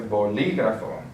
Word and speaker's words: bolígrafo: So since we have the accent on the I, we're going to say bolígrafo.